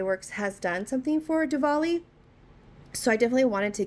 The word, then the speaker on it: Diwali: was saying it wrong I was saying to Ali it's actually Diwali so but yeah this